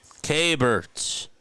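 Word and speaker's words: Keibert: Hello, my name is Kbert. Kbert. Kbert. He just pronounced it Kbert.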